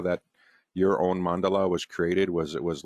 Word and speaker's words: mandala: oh okay is your is that is it pronounced mandala yes so is this representative of the field